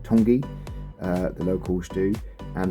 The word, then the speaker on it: Tongue: we thought was called Tong, which gave uh gives a lot of amusement to tourists alike. They actually pronounce it Tongi.